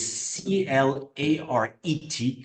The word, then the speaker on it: Claret: confusing French language so Claret is c l a r e t Claret and we pronounce the T and that's an English